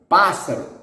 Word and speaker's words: pássaro: Every word with the antepenultimate syllable stressed is going to have the accent. For example, the word unique, único, único, único, unique. Bird, pássaro, pássaro, bird, pássaro.